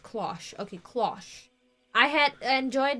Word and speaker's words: cloche: Pronounced cloche.